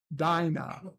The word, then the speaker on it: Dinah: Dinah Deeds is pronounced Dinah you know like Dinah Shore I I have no